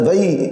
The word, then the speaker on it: وحی: یہ وحی نہیں بولا، یہ لفظ اکثر غلط بولا جاتا ہے، وحی نہیں، یہ اس کا صحیح تلفظ یہ وحی ہے، واؤ کے اوپر فتح ہا ساکن ہے اور پھر یا پہ وقف کر کے ہم اسے وحی نہیں پڑھیں گے بلکہ وحی پڑھیں گے۔ تو نبی کا